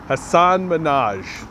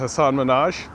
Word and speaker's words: Hasan Minhaj: his name that's a group that's brutal i butchered his name assad minaj that's it I did it go watch that interview that Justin Trudeau had with Hasan Minhaj you'll see the oil talking points you'll see